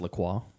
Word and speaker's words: LaCroix: You know it's actually pronounced LaCroix?